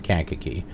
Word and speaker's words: Kankakee: And I looked at a couple of sources and pretty much got the same thing of where they were saying Kankakee.